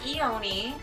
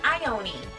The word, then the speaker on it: Ione: I was wrong, and he was kind of wrong too, because it's not Ione. It's Ione.